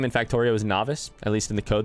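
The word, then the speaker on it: Nauvis: The fun fact, the planet name in Factorio is Novice. At least in the code, that's what it's called. I like it. I especially like the idea that you pronounce it as novice, like novice players.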